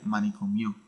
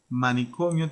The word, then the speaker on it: manicomio: es la vocal Tonic no pronunciaría poniendo énfasis en esta I en esta última I porque sonaría manicom mío y tampoco en la o final porque sonaría manicomio ambas pronunciaciones bastante mal verdad Así que manicomio tiene esta o como vocal tónica y las demás vocales